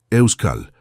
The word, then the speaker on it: Euskal: «Euskal», la K es importante. «Euskal», repitió, y aunque seguía siendo incorrecto, estaba más cerca.